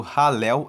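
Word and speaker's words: Hallel: E também você encontra os salmos que fazem parte do Halel egípcio. Halel egípcio, Halel se escreve H-A-L-L-E-L.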